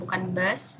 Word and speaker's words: Bus: Terus kalau mau baca bus, bacanya bus ya, bukan bus, tapi pakai u, bus.